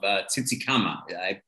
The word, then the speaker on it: Tsitsikamma: We'll be staying down in this village of Tsitsikamma. Did I pronounce that right?